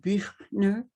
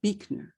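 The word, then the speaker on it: Buechner: and finally from frederick probably originally pronounced birdner b-u-e-c-a but become but has become anglicized to beakner compassion is sometimes the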